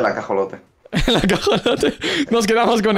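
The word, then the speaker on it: axolotl: buena pronunciación del juego la pronunciación correcta en teoría es axol axolot pero yo digo el la acolote la acolote nos quedamos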